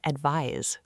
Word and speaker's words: advise: Our eighth pair is advice and advise. They look similar, but their pronunciation is different. Advice with a final soft s sound is a noun. Advise with a final z sound is a verb.